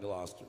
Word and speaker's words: Gloucester: It's not spelled like Gloucester, Bill, but that's how you pronounce it.